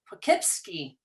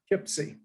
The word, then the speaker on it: Poughkeepsie: David Crenshaw, he is the clinical director of the Children's Home of, David, you're going to have to pronounce this for Poughkeepsie. me. Poughkeepsie. Poughkeepsie.